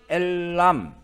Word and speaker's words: 엘람: 도시 잡고 보시면 됩니다 이엘 암은 발음이 엘람 저는 이것을 엘라 라오